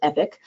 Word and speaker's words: EPC: e-rate productivity center uh epc is the acronym but it's pronounced epic so whenever you're submitting